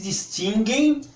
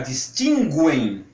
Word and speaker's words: distinguem: produção é que se distinguem as vogais das consoantes. Observe que eu estou pronunciando sempre distingue, mas como é tudo uma questão de escolha, se quiserem pronunciar distinguem, não tem o menor problema, porque é tudo uma